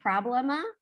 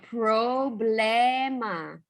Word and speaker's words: problema: similar to English because we want to say them like problema, but the O's in Spanish sound like O. So problema, problema.